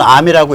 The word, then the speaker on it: ARM: 그 암스라고 ARM이라고 보통은 암이라고 읽어요. 저기서.